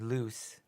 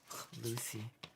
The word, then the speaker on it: Luce: He means the video on the Vatican's new mascot, Luce, which he is pronouncing wrong. Lucy.